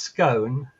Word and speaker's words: scone: or Jam On First well actually it's pronounced scone um so um as